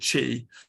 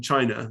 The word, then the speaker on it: qi: it what he called chi uh chi is a chinese term for energy or life force um and uh it's pronounced uh it's written q-i but it's pronounced chi as in like cheese um so um i